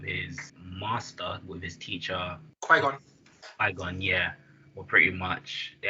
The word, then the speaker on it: Qui-Gon: And then there was a whole like setup where Obi-Wan and how do you pronounce the name? Qui-Gon.